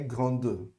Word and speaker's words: grande: Então, normalmente no feminino, a gente vai pronunciar a última consoante, tá certo? Vocês viram no lugar, no caso do grande, né? Então, le fleuve est grand, la tour est grande, tá certo?